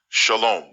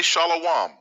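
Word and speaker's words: שָׁלוֹם: This word is pronounced shalom. If you say shalom or even shalom, I'm going to have to ask you to leave.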